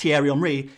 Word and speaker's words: Thierry Henry: The French people are saying it's not pronounced Thierry Henry, it's Thierry Henry.